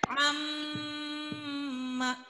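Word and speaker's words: عَمَّ: Karena ada 2 mim diganti dengan tasydid. Maka membacanya amma. Nah, jadi kan amma itu kurang. Amma. Oke. Harus 2 ketukan.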